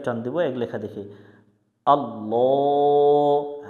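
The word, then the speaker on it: الله: এটিকে আল্লাহ শব্দ বলে। আল্লাহ শব্দের ডাইনে জবর হলে আল্লাহ শব্দের লামকে মোটা করে পড়তে হয়, জবরে আকার পড়া যাবে না।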